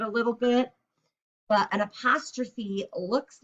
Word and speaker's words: apostrophe: out it's called an apostrophe look at the way it's spelled a post row and then ph sounds like an f so it'll be apostrophe apostrophe so this is an